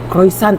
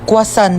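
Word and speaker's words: croissant: Croyant daw. Croisant? Ah quasant po.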